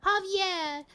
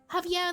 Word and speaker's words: Javier: It's pronounced hav Javier. Ah, this J is pronounced like an H and Oh, so it's like uh Javier like with an X too. Yeah. Javier, remember your hustles.